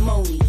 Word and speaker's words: Monie: Pronounce it Moni.